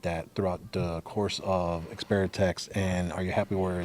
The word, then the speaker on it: Xperteks: How did you kind of navigate that throughout the course of Xperteks, and are you happy where it has landed now? So it's funny you say Xperteks. It's Xperteks.